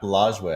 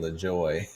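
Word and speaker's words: Lajoie: it's vastly different LJ LJ oh boy nap lway I've been saying Le Joy so LJ oh gosh LJ so nap LJ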